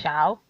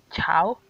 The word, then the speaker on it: tchau: Like, it's spelled TCHAU, I think. And it's actually pronounced Chow or Chow.